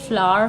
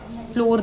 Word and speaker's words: flour: जो FLOUR होता है, इसकी प्रोनाउंसिएशन फ्लावर होती है, फ्लोर नहीं होती। फ्लोर FLW वाला होता है।